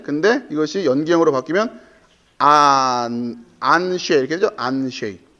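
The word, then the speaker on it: אַנְשֵׁי: 이건 복수형 ABS는 절대형이라니까 아나심 할 때는 보통 사람들, 남자들 할 때, 근데 이것이 연기형으로 바뀌면 안쉐 이렇게 되죠? 안쉐. 아나심이 연기형으로 가면 발음을 하자면 안쉐이로 발음을 해야 되는 거예요.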